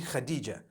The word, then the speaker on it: Khadija: I would say Hatis for that. No, it's actually Khadija.